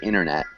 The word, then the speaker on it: internet: um internet so the t is almost like swallowed so i'd say internet can you repeat the word man internet yeah internet and so the t is kind of like assumed but it's not pronounced very much internet but good good